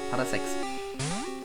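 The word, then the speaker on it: Parasek: Ja, Parasex. So heißt das, so wird das ausgesprochen.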